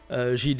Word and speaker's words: Gilles: Ah, ça se prononce à la française, c'est ça? Oui, j'y tiens. D'accord, très bien. Pas de souci, Gilles, il n'y a pas de problème.